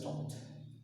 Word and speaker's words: talked: That is not talked. It should be pronounced as talked. Talked. Talked. See T sound.